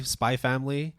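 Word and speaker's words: Spy × Family: I still say Spy Family. Yeah. But again, it's up to you because there is an X there.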